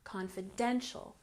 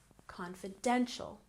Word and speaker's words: confidential: affected good and here we have confidential with emphasis on the third syllable confidential confidential very good and don't